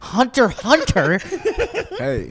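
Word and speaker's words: Hunter × Hunter: bro I'm like that Hunter Hunter you don't say the X you know how many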